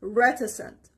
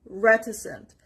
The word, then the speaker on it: reticent: the second word is reticent reticent the stress is on the first part r it means not